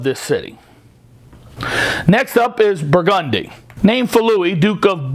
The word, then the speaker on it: Burgundy: We pronounce the street Burgundy instead of, like the wine, Burgundy.